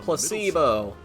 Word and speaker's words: placebo: time let's go placeo the stress is on Placebo I've learned very good